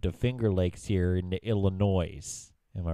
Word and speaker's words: Illinois: Don't by the way never pronounce the S at the end it's Illinois that's one of my